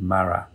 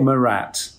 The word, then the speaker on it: Marat: he did in 1793 called the death of mara actually i've only just learned that's how you pronounce it it's been about 10 minutes trying